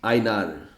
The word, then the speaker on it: Heinar: Eles gostam que a gente pronuncie o H, com o som, Carlos Aynar, como no hebraico, a letra rei.